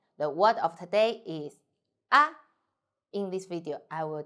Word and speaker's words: 啊: 我们一起读 "ah, ah," light and short.